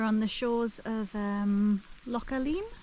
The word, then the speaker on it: Loch Aline: the shores of um localeen Loch Allen I think it's pronounced more like lock Allen and it's very picturesque